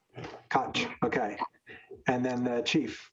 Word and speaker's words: Koch: How do you pronounce it? Koch. Koch.